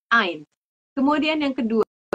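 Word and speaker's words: eins: usah banyak-banyak ya Eh yang pertama Ain ingat ya e i bacanya jadi a i i yaitu Ain Kemudian yang kedua Z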